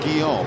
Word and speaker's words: Guillaume: I think he was pronounced Guillaume.